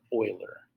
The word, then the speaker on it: Euler: This name, Leonard Euler. Okay, it's not Euler. This is pronounced Euler.